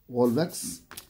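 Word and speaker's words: Volvox: Let us see how you are going to pronounce this. V for VOL, VOX, Volvax.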